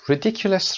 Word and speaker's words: ridiculous: Ridiculous رو با هم بریم چک کنیم. Ridiculous. تلفظ رد. صدای د استرس میگیره.